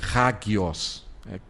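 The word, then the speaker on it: ἅγιος: Do Antigo é kadosh, e do Novo Testamento é hagios. Para se pronunciar seria colocar um H ali, por causa daquela aspiração na primeira letra do grego. Então você pronunciaria como um H aqui do Nihongo.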